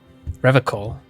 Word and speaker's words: Revachol: The explanation is using hard K is a fascist thing. REVACHOL.